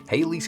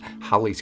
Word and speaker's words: Halley: very very much sweetheart Haley's Comet but pronounced hi's Comet last scene on the